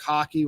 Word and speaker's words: Hocke: Joe Danos, I believe, is how you pronounce it. Oh, we do want to make a clarification. We called him Mark Hawk. It is actually Mark Hockey, which immediately makes him my favorite player our